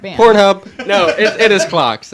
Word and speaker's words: Clocks: No, Cox. Cox. Yes. Different band. Pornhub. No, it is Clocks. It's Clocks.